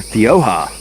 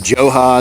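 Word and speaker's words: feijoa: you guys this is the pineapple guava or Theo ha the Joe ha there's a couple different ways to pronounce it and this is a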